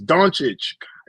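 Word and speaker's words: Dončić: going on it's and he say LCA last name wrong every time he say it it pisses me off put some put some respect on Luca's name bro please say it right it's donic Jesus okay okay we're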